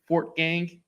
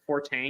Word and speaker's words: Fortgang: a tough um but people can't pronounce my last name for some reason Fort gang to it's compound word Fort and gang we always get the for Tang H don't don't understand